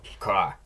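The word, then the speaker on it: к: Next is ka, and this looks like a K, sounds like a K. It does differ a little in the way it's written. It's got kind of that curly edge you'll see in printed text, but it's a K.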